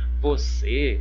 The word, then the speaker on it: você: Olha, você, eu tenho duas sílabas, vo e se. Qual que é a sílaba mais forte? A sílaba mais forte é a última, ó, se. A termina com som fechado ou som aberto?